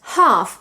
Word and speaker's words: half: Or the word half, where the L is silent too.